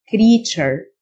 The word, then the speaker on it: creature: التيو تنطق تشه creature محصول crop.